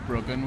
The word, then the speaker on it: Bryggen: recording today is called brogan i think it's pronounced bruggen which means keysight and